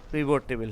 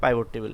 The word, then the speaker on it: pivot: পিভট টেবিল, হ্যাঁ পিভট টেবিল বা পাইভট টেবিল একই, উচ্চারণ ভিন্ন ভিন্ন বলি আমরা আসলে।